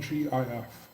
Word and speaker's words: GIF: the originator of the format calls it GIF. It was an inside joke, a reference to Jif peanut butter.